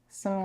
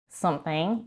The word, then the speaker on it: something: Something, again, she doesn't even pronounce the TH here in the word something because she reduces this to some. We have the NG sound at the end. It's not something, it's something.